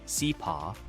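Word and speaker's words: Hsipaw: Hidden in Myanmar's northern Shan state, the former princely kingdom of Chapa, pronounced Seep, offers adventurous travelers mountain scenery, authentic tribal villages, and fascinating colonial history without the crowds of Inley Lake or Bean.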